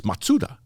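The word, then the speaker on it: マツダ: about and they're like the Japanese pronunciation is matsuda so I say okay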